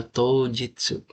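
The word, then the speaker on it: 当日: Terus yang nomor sambang ini tuh bacanya apa, Guys? Bacanya tojitsu.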